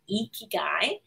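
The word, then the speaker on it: 生き甲斐: the ikigai framework it's a japanese word that roughly means your reason for being right and it's pronounced ikigai and one's ikigai is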